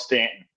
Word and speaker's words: Staunton: the way you pronounce Staunton. I mean, it looks like it's pronounced Staunton, but everyone calls it Stanton.